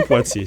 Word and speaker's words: Poitier: te récupère quand tu vas prononcer le nom prononce pour nous s'il te plaî Poitier Sid Poitier d'accord SNE Poitier voilà justement on parle de